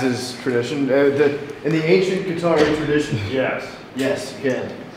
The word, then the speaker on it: Qatari: I think Qatari is Arabic. Oh, is it? Yeah. I'm pronouncing it like the video game system.